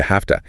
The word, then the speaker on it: have to: That reduces to have toa. And here, notice the sound change. The v in often shifts to an f sound.